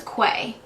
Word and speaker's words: Quay: They are by Quay Australia, which is actually spelled Q-U-A-W. So I thought it was Quay when I first learned about them, but it's actually pronounced Quay.